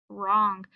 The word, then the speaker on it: wrong: WR again. W is silent. We have ng. Word is wrong.